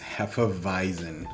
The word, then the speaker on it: hefeweizen: Yeah, I had to look up how to say that, and apparently it's pronounced hefeweizen.